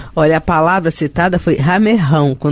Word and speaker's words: ramerrão: Ramerrão é uma expressão pouco usada, isso aí. E eu me lembrei dela agora, mas só eu não sabia como pronunciar. São com 2 R's. 2 R's, ramerrão.